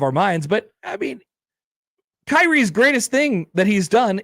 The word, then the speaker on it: Kyrie: Jason Impender writes in Jason it's pronounced Kyrie.